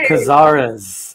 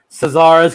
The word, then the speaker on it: Cazares: I am Liz Imperiali with Bucketlist Entertainment, and I'm here tonight with Dino Cazares of Fear Factory. Yay! Yay! It's actually Cazares with a hard C.